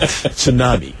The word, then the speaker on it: tsunami: say I said tsunami did you know that it's spelled with a t tsunami T you know that yes it was a Japanese word and when they say t they mean for you to pronounce it tsunami I mean come on tsunami at least we get it right here oh and I